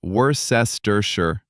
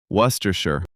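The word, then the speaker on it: Worcestershire: Worersher sauce. Not woresterers. Just worershir.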